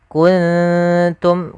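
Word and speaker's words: كنتم: Maka kuntum dia langsung ke makhrajnya saja nunnya ke samarkan. Jadi terdengar seperti ada eng tapi dia bukan ang tapi kun kuntum karena langsung kepada makhrajnya.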